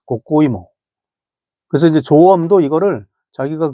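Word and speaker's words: こうこういも: 근데 이거를 그 일본어, 그 당시 대마도에서 불렀던 발음이 고꼬이모였다고 합니다. 고꼬이모.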